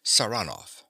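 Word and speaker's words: Saranoff: him round this way he pronounces the name with a stress on the second syllable saranov nicola yes sir he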